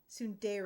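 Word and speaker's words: tsundere: Is that how you pronounce it? Am I pronouncing it wrong? Sundere. Sundere. Okay, you're pr You're pronouncing it correctly.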